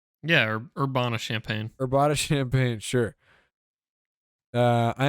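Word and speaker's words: Urbana-Champaign: what the how do you pronounce this check this out okay urbana champaign yeah or urbana champagne urbana champagne sure uh i am an artificial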